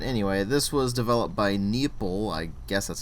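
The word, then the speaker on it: Neople: this was developed by nepple I guess that's how you pronounce it it's spelled like people but with an N at the beginning and it was published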